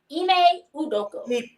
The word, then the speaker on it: Ime Udoka: Ime Udoka.